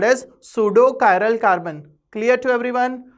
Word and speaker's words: pseudo: about pseudo carol carbon here p is silent pseudo chiral carbon means a